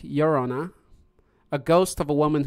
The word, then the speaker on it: Llorona: Dande also said, being in southwest region of the U.S., the most popular is the crying woman, or the Llorona, which is pronounced Llorona, a ghost of a